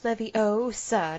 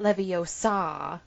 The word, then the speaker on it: Leviosa: it's levy oh it's Leviosa not Leviosa yeah that's not in the book no it's supposed to be the pronunciation of gar in Wingardium Leviosa like if that is